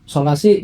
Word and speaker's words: Solasee: Jadi kita plesetin kalau kita ee dibacanya dari tulisannya sola s e e gitu. Oh ejanya gitu. Jadi masih ada masih ada ee arti dari bahasa Yunaninya itu tapi kita ee nyebutnya solasi lebih enak gitu.